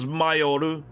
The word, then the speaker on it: Mayor: This is Mayoru, or Mayor is how it's pronounced.